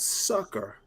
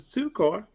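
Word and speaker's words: succor: And now this is let me predict he's gonna tell me about sucker versus sukor and I pronounce a sukor. The reason I do is we don't want to confuse it with sucker.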